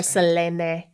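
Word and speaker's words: Selene: Philistine Celeste Celestial yes Selena or Selena if you really want to be pronouncing it correctly I think we've come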